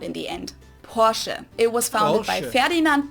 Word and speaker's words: Porsche: it's located in stutgart Germany I've heard Americans pronounce damn Porsche right how do you say that um in kind of say like Porche Porche yeah but some some people also call